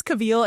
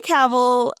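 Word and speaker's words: Cavill: I never know how to say his name cuz my mom says Cavil and I know that's Now you said it right. Henry Caval.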